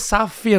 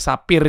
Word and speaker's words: safir: iya dulu PH gitu makanya kita ngomongnya safir kan He safir padahal F aja sekarang tuh safir iya bukan Sapir juga dibacanya tapi safir Oh PH begitu Iya